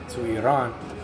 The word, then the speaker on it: Iran: It mentions Persia, which changed their name to Iran. That's how you really pronounce it.